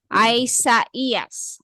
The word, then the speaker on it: Isaias: case of these words both vowels are pronounced okay to show that these two vowels are pronounced a two separate as two separate sound a diis is placed